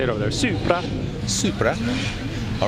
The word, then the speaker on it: Supra: Supra.